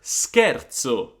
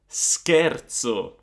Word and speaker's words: scherzo: So if you add an H here and you have SCH, then you're going to pronounce the SC as a hard sound. So it's not gonna be sh anymore, but it's gonna be sk, sk, like the English word skill.